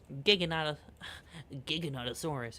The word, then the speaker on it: Giganotosaurus: I call it Giganotosaurus because that's the correct way to pronounce it. Giganotosaurus.